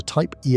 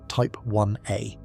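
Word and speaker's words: Type Ia: We found it in a special kind of explosion called a type E supernova, pronounced type 1A.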